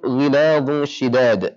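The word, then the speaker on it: غِلَاظٌ شِدَادٌ: Maka dha ditebalkan, ghiladu, tapi penahanan atau gunnah, ya, di hukum ikhfa ini ditipiskan. Cara bacanya ghiladun-shi, ghiladun-shi. Jadi dha tebalkan, kemudian langsung berubah di suara dengung menjadi tipis, ya, karena shin adalah huruf yang tipis.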